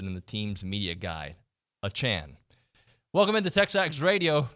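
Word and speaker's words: Achane: forward he would like his name to be pronounced Devon a Chan not a chain as it's currently listed in the team's media guide a Chan welcome into tech stocks radio presented by David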